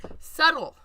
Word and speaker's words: subtle: Subtle. But on silent letter day, it's subtle.